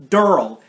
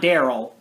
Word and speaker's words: Daryl: whatever and it's also the same thing with daryl even the actor in the uh survival instinct game tells you exactly how to pronounce it it's durrell not daryl just durrell something like that i feel